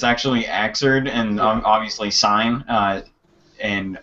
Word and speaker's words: Xrd: a lot of people that pronounce it uh pronounced it xrd but it's actually axered and obviously sign uh and i don't know